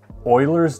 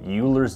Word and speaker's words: Euler: know this next one this is known as Euler's disk I kept pronouncing it Euler's disk in one of my shorts and a